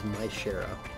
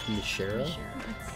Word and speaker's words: Myshera: Also, the official pronunciation of Myshera's name is Myshera, despite the fact that it looks like Mishera.